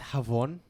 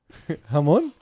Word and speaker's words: Javon: I believe it's pronounced Havon. Hamon? Maybe.